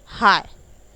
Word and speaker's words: high: हाय, तो उच्च, देखिए हाय बोलते हो आप, जैसे आप हाय हेलो बोलते हो वैसे हाय वाला, लेकिन प्रोनाउंस कैसे, उसका वर्ड क्या होता है HIGH, लेकिन आप बोलते कैसे हो, हाय।